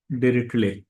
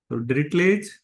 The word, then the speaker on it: Dirichlet: integration पर है और इसे पढ़ेंगे टले टी साइलेंट होगा टले थरम फॉर थ्री वेरिएबल